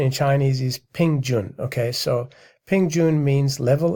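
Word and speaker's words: 平均: And the word, the pronunciation in Chinese is Pingjun.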